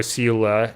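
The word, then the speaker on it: Seele: Kofka, we got uh Celely or Sila as they pronounce it, but I like Celely better.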